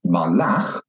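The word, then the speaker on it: מָלַךְ: So, melech, king, is accented at the beginning of the word. But if I take the same consonants and put in some different vowels, malach, he ruled, then you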